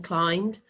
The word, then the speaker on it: climbed: Now, did you remember that silent B in climbed?